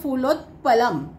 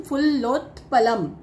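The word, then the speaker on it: फुल्लोत्पलम्: ्याच उच्चारण कसं करायच फुलोत पलम फुलोत पलम कस अस बोलायचं हे फ ल आहे म्हणून फुललोत पलम फुललोत्पलम काय आहे तलावाच नाम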